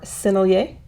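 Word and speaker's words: Sennelier: And I'm going to use my Selier paint today or sinier as the French would actually say. I thought I was pronouncing it the French way by saying Selier,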